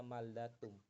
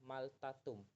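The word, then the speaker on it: 말다툼: maldatum atau apapun itu masih dibaca maldatum bukan maltatum karena maldatum itu kosakata contohnya lagi kayak makanan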